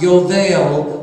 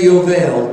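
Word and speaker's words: יובל: Now the word Jubilee in Hebrew is pronounced Yovel. Everyone say Yovel.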